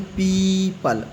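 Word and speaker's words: people: One once एक बार अगर ओ के पहले इ आए तो ओ साइलेंट होता है। जैसे दिया गया है पीपल। ओ के पहले इ आया है तो इसको क्या पढ़ेंगे? पीपल ओ साइलेंट हो गया।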